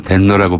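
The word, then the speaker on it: 天皇: 하는 말 자체가 너무 이제 이름이 높아 보이니까 네네, 바로 일본 발음으로 덴노라고 불러주자.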